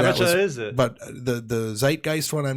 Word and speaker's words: zeitgeist: So you got that one wrong? I think so. I might have said Zitgeist on there.